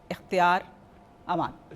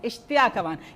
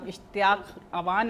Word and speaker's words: इश्तियाक अवान: इश्तियाक अवा इश्तियाक अवान ये कल से मुझे अपनी स्पेलिंग सही करवा रहा है। कभी मुझे कोई गलत बता देता है। कोई ऐप गलत बता देती है। फिर ये मुझे बार-बार कहता है। मेरी मैडम मेरा नाम इश्तियाक अवान है और अवान साहब हमारे साथ है।